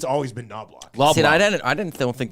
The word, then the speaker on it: Knoblauch: Chris nobl uh noblock are you calling him nobl yeah there's a there's a CH that you pronounce it yeah noblock okay noblock I thought